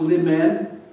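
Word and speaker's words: limen: new word for you it comes from the latin pronounced li men it means threshold it's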